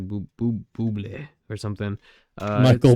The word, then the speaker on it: Bublé: Michael, I don't know, remember how to say his name's like Bublé or something. Michael it's Bublé.